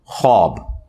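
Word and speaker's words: خواب: लेकिन यह लव है ख्वाब तो वह उसमें फिर साइलेंट हो जाति है तो यह बट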